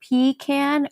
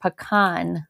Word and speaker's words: pecan: it's like tomato tomato I think that if you're Southern you say pean and if you're Northern like us we say t it's like a coup